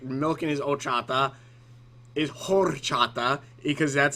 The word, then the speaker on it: horchata: I'm pretty sure it's pronounced horchata and not horchata. I gotta look that up, because I've always called it horchata, as in the H is silent. And if it's not, if it is said, sorry, I just need to check this real quick. Pronunciation, horchata. Yeah, there's no H. Well, there is an H, but it's not, I don't believe it's pronounced.